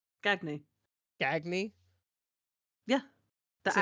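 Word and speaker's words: Gagné: Gagne. That's how you say it. It's in French. Gagny.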